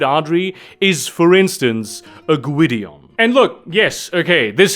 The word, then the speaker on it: Gwydion: my legal name though I have been taught pronounce it Gideon not guidion and I'm not sure